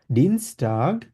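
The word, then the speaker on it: Donnerstag: তো আটটা এখানে উজ্জ্ব রেখে আমরা বলবো ডনাস্টাগ, ই থেকে আটটা উজ্জ্ব রেখে ইটা এস এর সাথে আমরা একসাথে করে ফেলবো।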